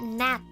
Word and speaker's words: gnat: Pronounced as Nat.